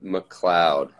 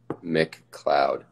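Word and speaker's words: McLeod: guitar face people robbie it's very serious you pronounce my last name mccloud like if a cloud was on a on like a mcdonald's dollar menu mccloud we're killing it as a three piece awesome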